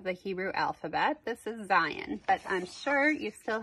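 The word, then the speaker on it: זין: If I were to spell it in English, we call that phonetically, it would be Z-A-Y-I-N, Zayin.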